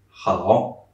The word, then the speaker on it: 好: The H in Chinese is much more pronounced than it is in English. Notice how I say it. Hai. Or here. Hao.